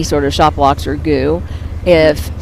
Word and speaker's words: GU: So it is spelled GU, right? GU, and yes. there are 4,000 goo packets and that are being handed out.